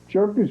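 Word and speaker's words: Hjerpe: Jerpy. Jerpy. turkeys. Uh the P is silent like the the H is silent like the P in swimming.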